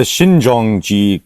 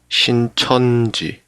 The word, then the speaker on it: Shincheonji: Yeah, the Shinjeongi kind of thing was a while back. Yeah, Shincheonji. Shincheonji. Oh yeah, There you go. Shincheonji. Yeah, we'll edit that out. Get my pronunciation correct.